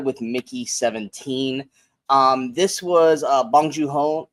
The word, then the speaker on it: Bong Joon-ho: This was Bong Joon-ho. Is it Bong Joon-ho or Bong Joon-ho? Bong Joon-ho. Oh, okay. I thought I was always saying it right, and apparently, I thought I was saying it wrong.